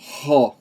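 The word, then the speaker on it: ὁ: E aí você pergunta, por que eu pronunciei ho? É uma outra coisinha que é um pouquinho complicado no grego e pode demorar um tempinho para você se acostumar. É esse negócio dos espíritos.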